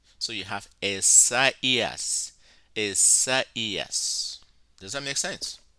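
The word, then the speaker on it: Ἠσαΐας: diaeresis, diaresis is diaeresis is when the diaresis occurs on top of one of the second letter in a diphthong to say to you that you should pronounce it separate from the letter that it stands with.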